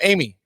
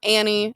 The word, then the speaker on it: Amie: uh my name is Amy just uh but I spell it a little weird it's Amy a m i e It's Not Annie It's not Arie uh as some people have called me Arie Arie how often do